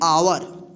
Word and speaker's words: our: ओ यू आर, इसको क्या पढ़ेंगे, आवर। तो देखिए यहाँ पे ओ यू क्या है, एक साथ है ना, तो इसका आ उच्चारण होगा, आवर, ठीक।